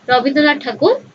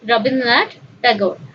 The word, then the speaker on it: Rabindranath Tagore: So, Rabindranath Tagore ku ame Odia re koithau Rabindranath Tagore, but we should pronounce it in English as Rabindranath Tagore.